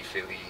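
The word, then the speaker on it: Fili: So they just focused on Thorin, Kili, Philly. That's right. Who's the other guy? We only know Philly because it rhymes with Kili.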